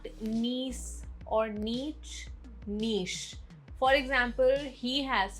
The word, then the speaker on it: niche: Word 26, niche. Not niece or niche, niche.